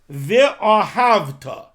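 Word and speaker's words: ואהבת: Now, again, if we look in Kriya Shema, so ve'ahavta, the shva under the vav, that is a shva na. It's a shva in the beginning of the word. Ve, you pronounce it.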